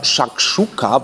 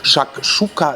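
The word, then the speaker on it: Shakshuka: so ein bisschen daran erinnert nennt sich aber shakchuka wenn es richtig ausgesprochen ist genauer gesagt shakchuka sizilia gebackene Eier in Tomatensoße mit Mozzarella und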